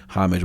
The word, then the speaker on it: homage: You tried to make me feel dumb for saying homage with the with the H. But I had to let them know that every English-speaking country outside of the US pronounces it with the H.